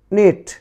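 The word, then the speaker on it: knit: অতঃপর নিট, নিট, নিট।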